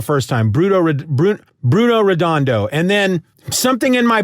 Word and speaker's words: Redondo: it correct the first time bruto bru bruno redondo and then something in my brain clicks that's